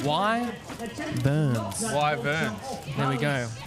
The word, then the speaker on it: Wyverns: It's pronounced Y Burns. Wyvern Burns. There we go. Thank you, Cat, for And also Cat, how are you? It's good to see you. Why Burns? Y and then a V.